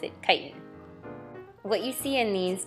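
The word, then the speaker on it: chitin: in potatoes glycogen cellulose and kiten some people pronounce it chitten but I pronounce it kiten what you see in these diagrams are examples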